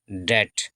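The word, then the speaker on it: debt: मतलब खत्म कर देगा द डेट डी ई बी टी इसको हम डेट पढ़ते हैं बी साइलेंट होता है इसमें डेट डेट यानी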